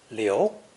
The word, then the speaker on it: 流: Pronounced liu, it means to flow, wander aimlessly, or spread unchecked.